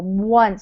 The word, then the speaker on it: once: Once. So it almost sounds like we put a W in front of it.